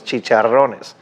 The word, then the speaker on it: chicharrones: See, I love the way that he's pronouncing everything, because that's the way that you pronounce these things in Spanish, chicharrones.